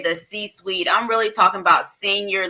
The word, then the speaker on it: C-suite: Am I saying it right? The C-spot? C-suite? C-suite.